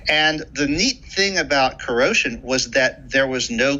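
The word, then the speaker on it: kuro5hin: for a website called corrosion spelled k-u-r-o digit 5 h-i-n meant to be pronounced like the word corrosion because the site's founder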